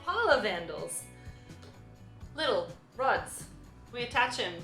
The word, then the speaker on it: Pahlavandles: I always mispronounce it. PAHLAVANDLES. There we go, maybe if I say it slow enough. PAHLAVANDLES.